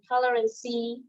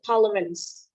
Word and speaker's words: tolerance: but here in English, instead of using tolerancy, so just use it tolerance.